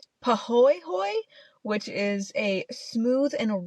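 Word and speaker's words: pāhoehoe: So the different lava types that are found in this park are I'm trying my best on the pronunciation, I just have to say. Pahoehoe, which is a smooth and ropey type of lava that it dries as.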